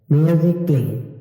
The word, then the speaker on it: musically: যদি কোনো ওয়ার্ডের মধ্যে ই এর পরে এই লেটারটি থাকে তাহলে অবশ্যই এই লেটারটি সাইলেন্ট থাকবে। মিউজিকলি MUSICALLY মিউজিকলি মানে সঙ্গীতের মাধ্যমে।